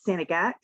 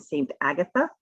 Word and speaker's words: St. Agatha: So I am in, some people pronounce it Sanegat, some people pronounce it St. Agatha.